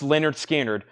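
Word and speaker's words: Lynyrd Skynyrd: you've got to have this $49.99 Leonard skinnard pronounced Leonard skinnard $49.99 Tuesday's Gone Simple Man free bird give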